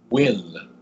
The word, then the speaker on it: Wyn: Another symbol I'm associated with is the Nordic rune Wyn, W-Y-N is how you say that one, which carries a meaning of joy.